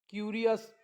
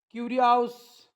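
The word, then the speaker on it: curious: तेव्हा ओ यू एस चा उच्चार स होतो काय होतो स पुन्हा वाचून दाखवतो dangerous famous क्युरियस enormous generous असं वाचू नका डांगेर हाऊस फॅम हाऊस क्युरी हाऊस इनर्माऊस general असं नाही आपल्याला जर प्रोनन्सिएशन माहिती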